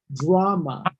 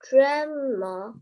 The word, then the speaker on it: drama: the sky is a drama. Drama. Drama. Draw. Tell a folk tale. Hold on, let's get the pronunciation correct. Not dra, it's draw. Like if I'm gonna draw something on a piece of paper, Drama.